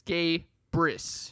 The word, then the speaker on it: Gabrus: whatever your name is is gabris and then in parentheses it's gay briss yes that's a that's